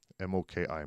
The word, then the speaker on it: Moki: come across the Moki, M-O-K-I, Moki. Well, if you're from Prescott and you one of these fellas out, that's Moki with an I. By golly. Rhymes with Smoke Eye.